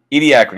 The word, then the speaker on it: Ediacaran: talking about, whose name I have already forgotten, Ediacaran? Ediacaran. How do you say that? Ediacaran, yeah, the Ediacaran.